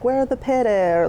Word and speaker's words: pyra: We've been saying Pyra, the Polish potato, but that's not correct. So the right way is pyra, but of course we don't expect everyone to know that. So it's pyra, the Polish potato, and pyra is slang for potato in Poland.